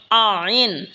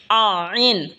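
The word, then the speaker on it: عين: এই তিন হরফ একই জায়গা থেকে উচ্চারণ হবে। এরপর হল আইন। আইন হলকের মধ্যখান হয়তো উচ্চারণ হবে।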